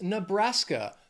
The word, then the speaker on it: Nebraska: Near there is Nebraska. Three syllables, stress is also on that second syllable. Nebraska. Nebraska.